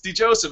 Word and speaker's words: DeJoseph: DeJoseph, is that how you pronounce it, sir? That's correct.